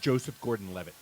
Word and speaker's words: Joseph Gordon-Levitt: actor's name is pronounced Joseph Gordon-Levitt.